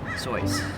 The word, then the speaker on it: Seuss: really Zeus is it I can see how you deduce that it's pronounced Seuss but when using your voice you would say it soy but grammar's aore and